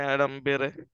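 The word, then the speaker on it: Adam Bede: হইছে সেই বইটার নাম ছিল অ্যাডাম বেরে এটার উচ্চারণ হচ্ছে অ্যাডাম বেরে এছাড়াও আরো বিখ্যাত আছে মিডেল মার্চ ইটিএসসি তো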